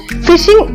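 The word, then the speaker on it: phishing: a trustworthy entity in an electronic communication so fishing is pronounced like fishing common fishing f i f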